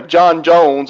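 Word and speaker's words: J'onn J'onzz: You were still going to get John Johns in the movie anyway. John Jones, as we would pronounce it, whatever, John Jones.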